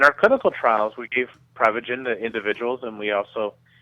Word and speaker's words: Prevagen: Well, technically it's pronounced Prevagen, but what Prevagen is is a supplement that's